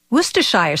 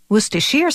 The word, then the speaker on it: Worcestershire: controlled model jets its name can be a bit of a tongue twister worcestershire sauce worcestershire sauce worcestershire sauce all those pronunciations are acceptable as are the endless